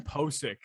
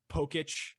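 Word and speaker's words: Pocic: There's a lot of Seahawks fans who don't know how to pronounce his name. Like there's like Posic. Pokic. Just imagine the first C as an S. I've heard Pochick.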